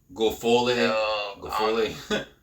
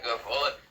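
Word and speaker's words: Guilfoyle: Gofole. Yeah, Gofole.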